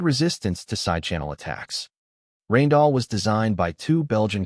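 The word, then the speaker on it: Rijndael: In 2001, Rainall pronounced roughly Rainall was selected as the new advanced encryption standard.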